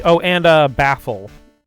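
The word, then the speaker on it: Bafeal: like Oh, and uh Baffl though Baffl's name is spelled B A F E A L.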